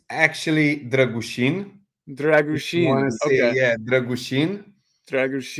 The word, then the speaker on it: Dragusin: and am I pronouncing dragusin correctly well it's actually dushin dragusin yeah dushin dushin we have a couple of special letters in uh in the Romanian language but you know I